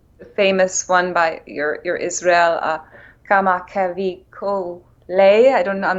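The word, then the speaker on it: Kamakawiwoʻole: Rainbow, is the famous one by your Israel, Kama Kavi Ko Lei, I don't know, I'm not saying it right. How do you, Brother is, they say. Kamakaliko Ole.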